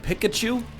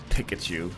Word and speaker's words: Pikachu: did you catch that Pikachu? And you go, Mom, it's not Pikachu. It's Pikachu.